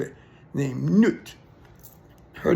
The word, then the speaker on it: Nut: Okay, but there was a Egyptian goddess, however you want to say it, named Nut. Her name is spelled N-U-T. It looks like nut, but it's pronounced Nut.